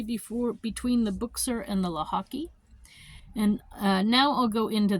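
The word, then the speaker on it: Łochocki: of their name, because in Polish you put a line through the L and then it's pronounced like a W.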